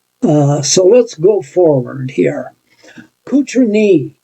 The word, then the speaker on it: Cotronei: Cotroneii is the town that they were from. That's how it's pronounced.